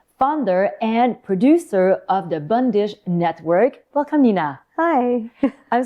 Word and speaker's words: Bandish: So bundish uh it's spelled bandish but it's pronounced bundish as you're so rightly